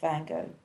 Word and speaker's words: Van Gogh: I didn't pronounce Van Gogh? No, you did. No, Van Gogh is good.